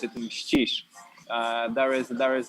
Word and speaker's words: Mścisz: But when you pronounce it in Polish, it will be Mścisz.